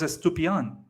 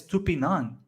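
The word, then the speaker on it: Estupiñán: Ferguson McAllister estupian estupidan I thought his name was estupyan is his name is estupinan sounds stupid on okay develman um so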